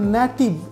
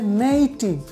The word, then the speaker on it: native: শোনাচ্ছি আপনাদেরকে এখানে হচ্ছে আমরা বলি এটা নেটিভ এটা হবে নেইটিভ নেইটিভ এখানে দেখুন এন এর পর এ আছে এই যে এ এ উচ্চারণ করছি তাই এই উচ্চারণটা হবে নেইটিভ দেখুন তারপর হবে এটা নেশন